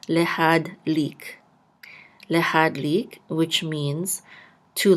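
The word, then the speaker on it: להדליק: The shava will be silent. So lehad. Oops. Lehad. And this lamed with a chirik and the yud together will say li. And we're going to close this syllable out with a kuf, and we'll say lik.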